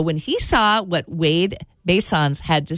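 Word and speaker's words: Boeshans: who is from Summit carbon Solutions named Wade basons and that's how he pronounces it it looks like bans but it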